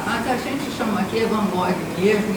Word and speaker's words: van Gogh: Eu pedi assim, qual é a pronúncia certa do nome do Van Gogh, né?